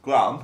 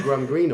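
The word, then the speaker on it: Graham Greene: must be something yeah Glam all right yeah that's how the American said it wrong yeah we should get some gram green or yeah all right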